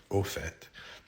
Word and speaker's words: au fait: But there was a time after I learned that where I started hearing people saying au fait, and I knew it wasn't en, it was o, a-u, au fait.